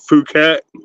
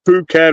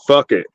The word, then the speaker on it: Phuket: And it just says Phuket on the front, Phuket, and everybody's just like, they start laughing and go, "We love that fucking hat," because they pronounce it "fuck it."